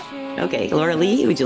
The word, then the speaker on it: Loralee: Is that am I pronouncing your name right or is it Laura? Laura Lee. Yeah. Okay. Laura Lee, would you like to say hello?